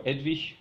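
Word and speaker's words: Eadwig: uh then came King edwick who is or edvi depending on how you pronounce him uh who is best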